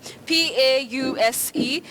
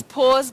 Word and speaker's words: pause: What is important in that word, Betty, is the digraph A and U representing the long vowel sound O, po.